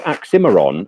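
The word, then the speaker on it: Oxxxymiron: so if you there's a fellow called aximiron um which is a moscow pronunciation so uh if you take away the moscow pronunciation oxymeron which is which of course is a bit of a pun and um he's got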